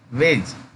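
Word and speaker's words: wedge: वेज, डी यहाँ नहीं पढ़ेंगे, वेज।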